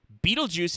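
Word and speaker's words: Betelgeuse: so um this one's really weird so uh beetlejuice if you don't know is actually pronounced that way um orbital guys you can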